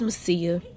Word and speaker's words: Macia: I was trying to name her after Macy, so her name is Macy or Mossier, and I like Macia. So this is Macia.